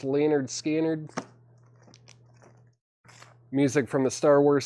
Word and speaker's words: Lynyrd Skynyrd: one of these left Lynyrd Skynyrd pronounced Leonard scannered music from the Star